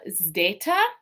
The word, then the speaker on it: zeta: And this one is interesting because it looks like our English Z, but it's pronounced a little bit differently. So in Greek, this is more of an SD sound, like in our word wisdom. So it's got that Z, but there's also that D sound after it.